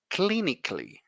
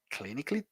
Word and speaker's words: clinically: him clinically very important most of the words that end with a l l y the a is silent you don't pronounce the a like with basically or